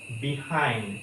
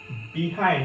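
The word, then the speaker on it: behind: এটা হবে তারপরেরটা হচ্ছে বিহাইন্ড যেটা আমরা বলি এটা একচুয়ালি হবে বাহাইন্ড তারপরেরটা হচ্ছে এবিল এটা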